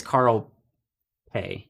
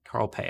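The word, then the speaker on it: Carl Pei: His name is Carl Pay. Carl Pay, I think is how you say it.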